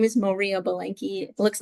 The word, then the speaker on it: Moriah: My name is Moriah Bilenky. It looks like Mariah, but pronounced Moriah.